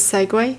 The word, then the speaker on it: segue: know that saying what say sounds like segway wait it's actually pronounced as segway segue oh segway what what